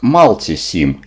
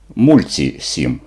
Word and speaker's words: Multisim: для розрахунку електронних схем взагалі-то мульти7ім читається з англійською як малці сім і це вірна вимова але все в слов'янських мовах нам зручніше використовувати мульці 7 тому я буду використовувати